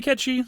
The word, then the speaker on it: Cait Sith: about the character um it probably should be katchy if you're going to do the whole Scottish accent thing and since you're clearly